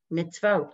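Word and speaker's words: מִצְוֹת: Why is there two V's there for mitzvot? Because it's telling you the V gets a sound and the V is getting his own vowel.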